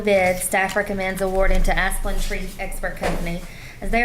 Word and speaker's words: Asplundh: This is the one I can never pronounce the name. It's Asplundh.